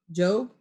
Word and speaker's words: Job: Job? Job. Job Anderson. It's spelled like Job, though. Job. Why is that long? Oh.